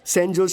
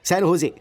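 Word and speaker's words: San Jose: Oh sorry sorry sorry sorry sorry, सैन होजे, SANJOSC। इसकी spelling यही है ना, लेकिन इसमें जे साइलेंट रहता है, इसलिए इसे सैन होजे बोलते हैं।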